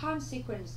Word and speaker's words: consequence: Ở đáp án B chúng ta có từ này là hậu quả, mình đọc là consequence, trọng âm của chúng ta dêm tiếp thứ nhất.